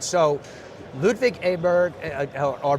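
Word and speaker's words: Åberg: All right, so Ludwig Aberg, or Berg, I should say to pronounce it correctly, had a chance to speak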